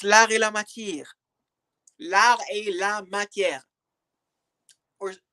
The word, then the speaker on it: L'Art et la Matière: Hey, I'm not your friend's machine, but it's l'art et la matière.